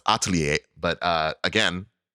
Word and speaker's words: Atelier: playing Atelier Asha uh you know what that word is actually pronounced Atelier but uh again not